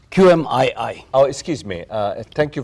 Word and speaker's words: QMII: And that's the name of the company, called QM22. QMII. Oh, excuse me. Thank you for pronouncing it correctly.